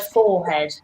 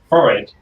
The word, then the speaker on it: forehead: I would also like to talk about your pronunciation of the word forehead. Forehead. No. No, it's forehead.